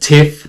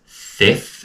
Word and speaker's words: Theth: So, some people pronounce it Theth, but we asked the locals, it is pronounced Theth, and we were there for 4 nights.